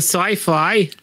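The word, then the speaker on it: Syfy: Go to Sci-Fi. Is that how you pronounce that?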